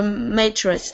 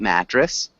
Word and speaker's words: mattress: put it in the Matrix Matrix good and the pronunciation of mattress is a little bit different can you repeat mattress mattress good mattress and Diego